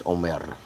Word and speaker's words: Omar: Um and my first name is actually pronounced Omar, but nobody can say it right. So I just say Omar, but it's Omr.